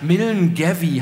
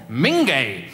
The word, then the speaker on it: Milngavie: einen Vorort von Glasgow, der Milngavie heißt. Denke ich, ist aber Quatsch, wird ganz anders ausgesprochen. Mingay!